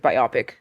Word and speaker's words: biopic: That would probably be like a really good blockbuster movie, like biopic, if that were ever to be made. Biopic. Look. Biopic rhymes with anthropic.